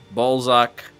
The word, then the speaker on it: Balzac: name for anyone curious that's how that's pronounced ballzak uh Balzac uh Balzac